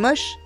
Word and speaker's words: Moche: Car elles étaient moches? Non, ça s'écrit moche, mais ça se prononce Moche ou Mochica.